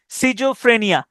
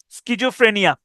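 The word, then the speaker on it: schizophrenia: ঠিক আছে, ও এখানে ই হবে, তাহলে সিজোফ্রেনিয়া। তাহলে স্কিজো অথবা সিজোফ্রেনিয়া, তাহলে কিভাবে হয়? সবাই একটু নামটা লিখেন, SCH, SCHIZO, স্কিজো, PHRENIA, স্কিজোফ্রেনিয়া, স্কিজোফ্রেনিয়া অথবা সিজোফ্রেনিয়া।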